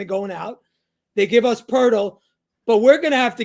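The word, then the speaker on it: Poeltl: what his name is spelled poal but it's pronounced purle with an R I don't get that what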